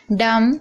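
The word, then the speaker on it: dumb: डम, यहाँ पर भी आप देख रहे हैं एम के बाद बी है तो बी साइलेंट है।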